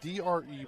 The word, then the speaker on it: Dreyer: It's spelled D-R-E-Y-E-R. I'm going to say Dreyer.